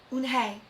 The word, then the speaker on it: Unhei: Yes, it's pronounced Unhei, and it means grace, Mr.